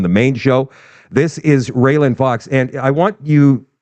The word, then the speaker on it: Raelyn: whenever please go and follow her her name is spelled r a l y n Fox it's all one word railen Fox on Rumble she is doing such good